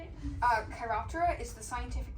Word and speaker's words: Chiroptera: Chiroptera is the scientific name for the order of bats.